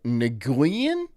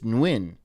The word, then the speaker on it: Nguyen: There's a G. Most people would be like, Nguyen? No, it's Nguyen.